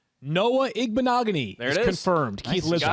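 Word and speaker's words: Igbinoghene: trusting him to lead me to the right pronunciation. Noah Igbenogany is confirmed.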